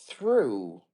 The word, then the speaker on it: through: I got it but there is through like true correct exactly you're getting